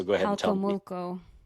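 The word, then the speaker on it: Jalcomulco: I remember walking the streets, and I always butcher the pronunciation of the little town. So go ahead and tell me. Halkomulko. Halkomoko, yeah. Yeah. For some reason, always want to say Holakomoko.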